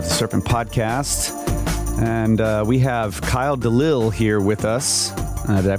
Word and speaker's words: Delisle: And we have Kyle Delisle here with us. Did I pronounce that right?